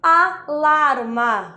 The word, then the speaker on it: alarma: seria alarme em português eu falo lá alarma por quê Porque nesse alarma a sílaba tônica a sílaba forte não é o primeiro a mas sim o lar então alarma não tá